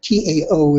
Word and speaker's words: Tao: Notice, by the way, that Tao is pronounced with a D.